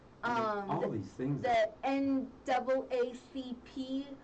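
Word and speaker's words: NAACP: all these things the N double a c p is how you say yes I always mess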